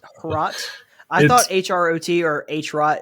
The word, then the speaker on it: Hrot: So, see, I was reading a tweet from someone who was Czech as well, I think, and they were saying it's Hrot, like rhymes with scrote.